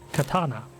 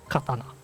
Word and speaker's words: katana: are a lot harder Katana for example is incorrectly pronounced by many English speaking speakers and it's a fairly small difference in pronunciation mostly what English speakers says is Katana which is not correct the correct one is Katana and if you could